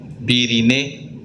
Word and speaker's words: Virinae: Si es la subfamilia, Virinae, se lee, Virinae se pronuncia.